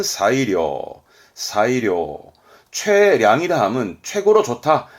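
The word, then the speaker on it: 最良: 그럼 발음은 사이료, 사이료.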